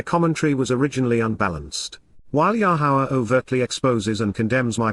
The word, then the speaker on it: Yahowah: 4 vowels which comprise God's name, YRR, are pronounced Yahowah not Yahweh or Yahweh.